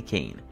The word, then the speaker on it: Cane: A lot of people mispronounce this dog's name, pronouncing the first part the same way they moved candy cane. It's actually cane.